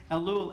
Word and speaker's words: Elul: familiar and that is reading elul which is the way we pronounce it elul as an acronym for